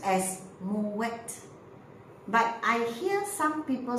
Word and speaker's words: MUET: University English as m e t now I pronounce as Mo wet but I hear some people saying mil and there are others like I have some